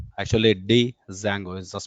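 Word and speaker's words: Django: related Frameworks are available Zango actually D Zango is the spelling d is silent D Zang is one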